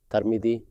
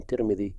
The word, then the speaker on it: Tirmidhi: said such and such, the script itself does not indicate whether the name should be read as Tirmidhi, Tarmidhi, or Turmidhi. If you already know the name of Imam Tirmidhi, then you pronounce it correctly on that basis.